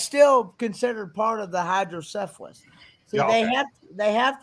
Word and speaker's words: hydrocephalus: called it's called Hydro it's hydrocephalus hydrocephalus cephalus not syphilis as some people might get the mistake it's hydrocephalus yeah I see what